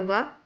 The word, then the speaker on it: व: The sound of Va is pronounced as Va, like the Va in the English word van.